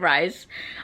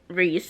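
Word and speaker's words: Rhys: I always said Rise, but Reese, I'm pretty sure is how it's pronounced.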